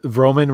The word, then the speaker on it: Vrooman: to pronounce my name it's roman rhymes with roman uh i appreciate that